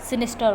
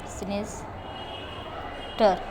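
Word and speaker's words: sinister: अब इसका प्रोनाउंसिएशन कैसे है? सिनिस्टर। मतलब इसका आर जो है ना ऐसा है कि मैं बोलूँगी भी तो उसकी आवाज़ जो बिल्कुल कम जाए, सिनिस्टर सिनिस्टर। आपको रॉ का जो आवाज़ है ना बहुत स्लो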